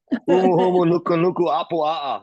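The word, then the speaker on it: humuhumunukunukuāpuaʻa: Humu humu nuku nuku apu a'a.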